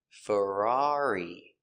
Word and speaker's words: Ferrari: Pronunciation of Ferrari. Fur Fur a frer Ferrar E. Ferrari. Ferrari. Stress on the second syllable.